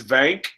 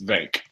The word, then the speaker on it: Vank: It's Vank. It kind of rhymes with bank. I'm sorry if we're mispronouncing the name. Slap me in the mouth. It's Vank.